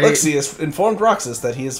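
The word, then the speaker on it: Lexaeus: How do you pronounce that? Lexius? Lexius, yes.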